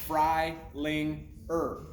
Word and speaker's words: Freilinger: And so I had to explain to my counselor, like it sounds Freilinger.